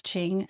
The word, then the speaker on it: Qing: It is Qing. I looked it up.